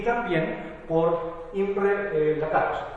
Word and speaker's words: Lakatos: y también por Imre Lakatos, que en realidad es húngaro, se pronuncia Lakatos, pero como para evitar el chilenismo o la mala interpretación, así, Lakatos, simplemente. Tiene su modelo también, que